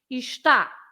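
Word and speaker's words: está: have an accent so that accent makes you pronounce ta with more stress so it's ishta that means is usually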